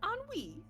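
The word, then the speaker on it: Ennui: I'll uh what's her name my name is anwi and then I'm gonna reach out my hand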